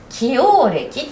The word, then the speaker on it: 既往歴: 、そして起応歴と読みます。起応歴、ご本人